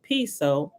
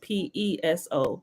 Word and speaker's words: Piso: all the creation of calpernius piso pronounced piso it has a spelling p-i-s-o but pronounced p-e-s-o pronounce p-soap let me go back